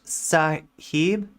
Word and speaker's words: sahib: of racism in here it is pronounced sahib it means sir okay